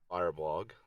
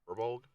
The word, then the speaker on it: Firbolg: I will be Charles Grodin, the Firebold, Firebold, I guess, Firbold. Firebold? Yeah, Firbold, I think is how you say it.